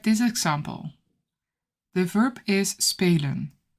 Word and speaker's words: spelen: The verb is spelen, spelen. The first syllable is an open syllable with a long vowel sound, spe.